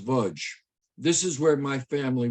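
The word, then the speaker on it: Łódź: This was the gates of a ghetto, the Lodz ghetto, pronounced Vudge.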